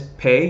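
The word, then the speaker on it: פּ: or Fay if it if you see the - then it's pay it's a it's a I sound like purple if it's if you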